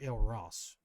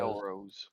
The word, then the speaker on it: Elrose: So, brothers, your character's name pronounced Elrose or El Ross? All right. Elrose.